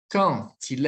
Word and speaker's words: quand il: Quand il est à la maison, então observem, na verdade, e escutem, né? Aqui eu vou pronunciar, pessoal, com um sonzinho de T, tá?